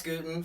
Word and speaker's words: Gutin: is it good guten from uh Philly comedy club that's like gluten but you take the ls yeah he used to